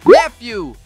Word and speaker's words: nephew: A parte final soa como fio, parecido com o som inicial de filtro.